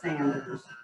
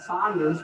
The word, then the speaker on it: Sanders: i got it back here and it says sanders it's like oh my gosh i bought an inferior brand well i went online checking it out and apparently it is sanders and i've been calling it saunders my whole life we've always called it but